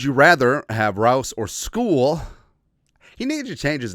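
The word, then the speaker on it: Skule: week one, would you rather have Rouse or school? He needed to change his name, right? I know it's pronounced school, but he's on the Vikings now. Can can we just call him call him Skull now?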